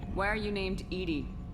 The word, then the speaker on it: EDI: why are you named Edie Ed is the phonetic pronunciation of Eed that is an acronym